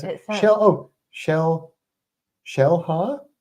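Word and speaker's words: Xel-Há: it sh oh Shell Shell ha that XA is pronounced shell interesting okay that's cool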